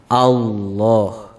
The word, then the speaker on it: Allah: membacanya Allah Allah misalnya ada yang membacanya Allah Allah juga salah tetapi yang benar adalah allohu allohu ini cara membaca